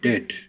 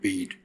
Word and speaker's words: dead: sounds like bird, and dead, it's said like bed, not bead.